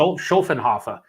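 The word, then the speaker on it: Schöfferhofer: Wait, I thought the Schaffelhofer was that is it Schaffelhofer or what? How do you pronounce it? Schofenhofer, and it is a grapefruit one, right?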